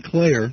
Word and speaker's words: Klayer: Is it Klayer? Uh-huh. Okay, Klayer.